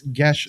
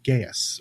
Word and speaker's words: Geas: And Well, for those of you listening and or watching at home, it's Gesh spelled Geas, or what most people call Gaius or Geus, or I've heard it mispronounced so many different ways.